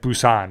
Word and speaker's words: Busan: or trained to busan it's like busan is how they say it but it just sounds better trained to be sane